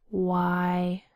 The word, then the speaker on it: why: Why? Why? WH says W. The Y makes a long I sound. I W I.